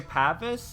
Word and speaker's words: Pavis: You say Pavis?